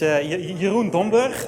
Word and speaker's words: Jeroen Domburg: Chris already said uh my name is Yun dber that's the way you pronounce it if you can pronounce